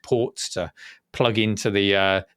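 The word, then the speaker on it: Portégé: was the last one sorry por it's got accents on the E so assume I thought I'd say it like banjo yeah uh and it was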